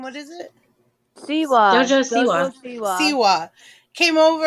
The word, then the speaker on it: Siwa: And so JoJo Swai actually came and had and did I don't know how to say her name. What is it? Siwa.